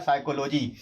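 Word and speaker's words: psychology: बड़ी की मात्रा तो यहां पर केवल पीस साइलेंट हो जाएगा और पढ़ा जाएगा साइकोलॉजी यहां पर क्यों पढ़े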